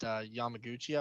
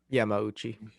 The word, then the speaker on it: Yamauchi: A good fight to note for that is the fight that he had in Bellator against Yamaguchi, I want to say his name is. Yamauchi.